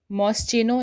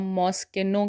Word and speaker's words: Moschino: MOSCHINO, MOSCHINO, इसे हम मॉस्चिनो नहीं कहते हैं, इसको हम मॉस्किनो कहते हैं। इसे हम मॉस्किनो कहते हैं, मॉस्चिनो नहीं